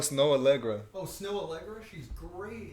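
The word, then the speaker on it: Snoh Aalegra: It's with Sona Aurora. How do you say her name? I don't know. I don't even know who you're talking about. Bro. Oh, Snow Allegra.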